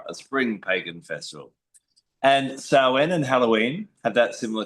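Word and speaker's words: Samhain: kind of known as sen. Some people pronounce it snee but sen.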